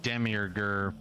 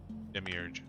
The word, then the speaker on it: Demiurge: few situations where even Demi orger whatever I keep mispronouncing his name demiurge yeah him too it